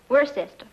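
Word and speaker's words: Worcester: too doc but it's spelled w r c e s t e r wor sest oh yes I see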